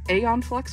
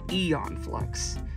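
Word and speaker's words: Æon Flux: how this is pronounced you would think it's Aon flux but it's Eon flux um the AE when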